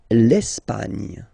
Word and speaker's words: L'Espagne: L'Espagne. L'Espagne. Okay, don't insist on the final E because basically it's not pronounced.